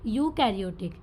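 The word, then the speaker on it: eukaryotic: देखो वहाँ सिर्फ प्रो था आगे और यहाँ EU, तो इसको हम रीड कैसे करेंगे, प्रोनाउंसिएशन क्या होगी इसकी, यूकैरियोटिक।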